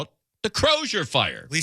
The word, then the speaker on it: Crosier: The Crosier fire. Yeah, they're mispronouncing it. It's the Croser fire.